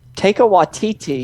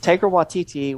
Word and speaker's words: Taika Waititi: Taika Waititi Yeah.